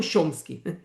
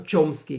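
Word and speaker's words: Chomsky: Eh, então aqui em hebraico as pessoas se referem a ele como nomhomski, não shomski, eh, ou tchomski, como se dizem nos Estados Unidos.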